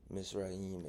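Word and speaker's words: Mitzrayim: the land of Egypt misraim it's a it's a tale of two people Israel and misraim misraim is how you say Egypt in in Hebrew the Ang Angel of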